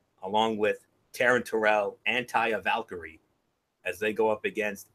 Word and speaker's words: Taya Valkyrie: want to call him, Taya Valkyrie. or as MF likes to call her, Talia Vicarine. It's Taya Valkyrie, MF, if you want to get the pronunciation right.